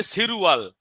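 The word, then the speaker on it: 칠월: সিলওয়াল তো আর হবে না, হবে সিরুয়াল। কি হবে? হ্যাঁ, বাসিমের নিয়ম সিলওয়াল। অনুযায়ী এটা উপরে যাবে, সিরুয়াল।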